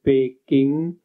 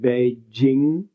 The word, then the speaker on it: Beijing: So, I mean, this is a very common, or in Chinese, for instance, Peking is now pronounced Beijing.